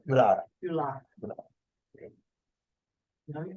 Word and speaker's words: Yulara: And And so you're pronouncing Uluru, Ulu? Uluru. Uluru. Yulara is the name of the town, but Uluru is the Aboriginal word for it, Uluru.